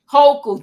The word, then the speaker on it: Hochul: Hochul, thank you. You see, that's why I love you, because you help me pronounce words and get it right.